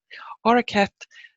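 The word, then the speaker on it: Auraicept: or or stephannie Macy's I've heard it pronounced both ways and I'm not a hundred percent sure which one and I'm gonna go with the hard C because that is the Irish language and so are kept the Nikes and which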